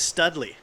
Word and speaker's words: Studley: thing to show John Stidley's attempt at a perfect Pac-Man. Actually, no. See, this is the funny thing. I was the only one who actually say his name right. His name is Studley.